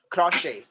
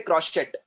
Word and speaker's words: crochet: Next one, crochet। We don't say crochet, we say crochet। crochet et silence है वहां पर।